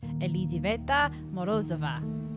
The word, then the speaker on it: Elizaveta Morozova: I'm glad that she said her name because I butchered it before. So it's Elizaveta Morozova.